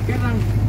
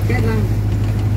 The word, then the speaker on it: Cái Răng: Cà ràng nhưng mà do người dân miền Tây phát âm thành từ cái răng. Hay là nghe. Nhưng có địa danh là cái răng.